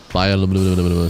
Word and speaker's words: bioluminescence: Bioluminescence, 6 syllables, not 5.